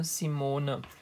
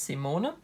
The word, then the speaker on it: Simone: call me or simona or like you english people would probably say simon in german it's simone and yeah that was